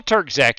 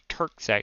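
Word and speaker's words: Terczak: c k Tac I I think the C in the middle is silent if I'm not mistaken he corrected me one time and I have since not really forgotten I know there's a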